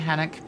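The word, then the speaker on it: Hanoch: Can Can I do something, I know that I said that Hanock pronounced with the KH throat sound at the beginning of the end is an Jewish first name.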